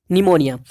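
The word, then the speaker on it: pneumonia: पहले पी से प्लूरो, दूसरे पी से निमोनिया। तो निमोनिया में क्या होता है, पी साइलेंट रहता है, ओके, और एल से लाइक, ओ से ऑर्गेनिज्म।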